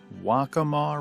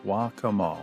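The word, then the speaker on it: Waccamaw: was down in the wacamaw river and I hope I got that pronunciation right um someone helped me with that wakama wakama wacamaw River at the waca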